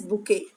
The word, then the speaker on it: bouquet: It begins with capital letter and the pronunciation of this word is bouquet.